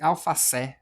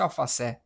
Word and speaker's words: alface: Gostei desse alfacé, me vê um um mó de alfacé. Não, a gente fala alface, ou seja, é uma paroxítona, porque a sílaba tônica ela é a penúltima, tá, Felipe?